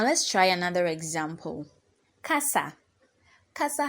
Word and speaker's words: casa: try another example Casa Kasa has two syllables and so the first syllable is C and the second syllable is sa so our penultimate syllable is C because C is the syllable before the last syllable which is sa so we raise our voice at C or the word stress falls on C and then s you lower your voice so we have Ka sa Ka s with the